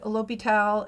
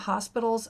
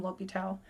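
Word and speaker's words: L'Hôpital: concepts are really beautiful this dude l'hopital is french and his name is not hospitals a lot of students mispronounce it but technically it does translate to hospital but please call him l'hopital anyway so there's that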